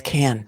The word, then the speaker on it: Cann: She's like, it's Can. Kahn is CANN. And then Pronounce it Can, she's saying.